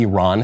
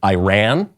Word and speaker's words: Iran: last 20 years Iran because that's the way that the Iranians themselves pronounce it but I think okay